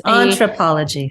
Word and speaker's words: Entrepology: Anthropology. It was Entrepology.